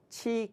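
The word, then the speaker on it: 植: 이 글자는 식이라고 읽지 않고 치라고 있습니다. 치라고 읽을 때는 꽂을 치, 식이라고 읽을 때는 심을 식. 그러니까 살아있는 식물을 땅에 심는다 그럴 때는 식, 죽은 막대기 같은 걸 땅에 꽂는다 그러면 치 이렇게 읽습니다. 그래서 여기서는 이제 지팡이를 꽂았다 이러니까 치라고 읽습니다.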